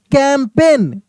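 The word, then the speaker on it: campaign: कैंपेन कैंपेन यहां पे जी silent है।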